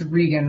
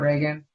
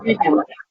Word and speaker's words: Regan: It's Regan, right? Not Reagan. Yes, Regan.